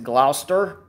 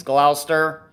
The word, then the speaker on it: Gloucester: up here is Gloucester and yes it is pronounced the Gloucester it's not Glau Chester or Gloucester or anything like that it's Gloucester I want to make sure I pronounce it